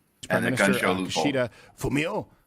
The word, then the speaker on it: Kishida Fumio: Kishida Fumio, I think that's how it's pronounced. It's guttural.